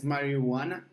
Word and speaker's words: marijuana: Now it's very good just to remember the pronunciation. Yes, marijuana. Marijuana? Yes, there is no J pronunciation. Marijuana.